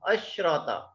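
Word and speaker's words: عشرة: And this sheen is silent. This sheen is silent. Ashrata.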